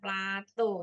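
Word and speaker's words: plateau: daerah apa namanya Plato Plato ya bacanya Plato ini ya Nah ini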